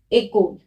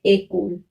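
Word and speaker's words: école: अगर मैं ई के ऊपर ऐसे एक्सेंट लगा देती हूँ एक्सेंट ए क्यू, तो इसका प्रोनाउंसिएशन हो जाएगा एकोल। क्या प्रोनाउंस करेंगे? एकोल।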